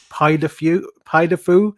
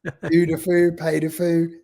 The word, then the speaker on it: Puy du Fou: Puy Du Fou. How do I pronounce it?